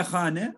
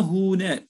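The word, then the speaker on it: خانه: Yani sıkıntılı bir şekilde, biraz psikolojisi gergin bir şekilde ve hane, hane ev arkadaşlar. Kullanımda hune diye de kullanılıyor. Ağlar telaffuzda, bilhassa Tahran'da arkadaşlar hune şeklinde kullanılıyor.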